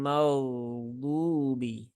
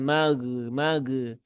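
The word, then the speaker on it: المغضوب: Nah, ghairil maghdubi. Mau bukan mag, bukan juga mak. Nah, mak. Nah, itu tidak salah, tidak tepat ya.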